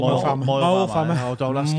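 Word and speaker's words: Moel Famau: Moel Vamai. Oh, don't ask him. Moel Vamai.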